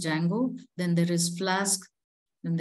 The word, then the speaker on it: Django: applications I will have Django D is silent we call it as Django then there is flask